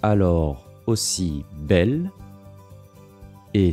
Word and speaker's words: bel: Celui-ci se prononce alors aussi belle et s'écrit B-E-L.